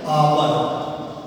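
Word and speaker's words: hour: होता है एन आवर, यहाँ पर एन लिखा हुआ है, लेकिन ये साउंड देखिए जो यहाँ पर एच आप देख रहे हैं, ये साइलेंट है। हम लिखेंगे एन आवर, अब लिखेंगे तो उसमें एच कैप उसको लेटर, लेकिन जो साउंड होगी वो आवर की आ गई, तो यहाँ पर इसलिए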